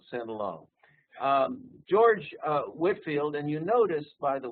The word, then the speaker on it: Whitefield: its name they they they dropped the E and it's so it's properly pronounced George Whitfield and he he actually